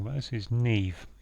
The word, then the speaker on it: Niamh: So we've got a hidden word here of Niamh, which I believe, but I may be wrong about this, is Neve. It's pronounced Neve, and that's a girl's name.